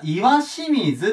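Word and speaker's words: 石清水: 読み方書いとこうこれ石なんですけど読み方岩水って言います岩水を拝がま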